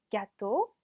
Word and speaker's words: gâteau: 여기 으 붙으면 오처럼 발음 난다 그랬죠? gâteau.